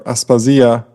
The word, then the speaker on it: Aspasia: So one example of this is Aspasia or Aspasia, to use the pronunciation of the modern Greek name.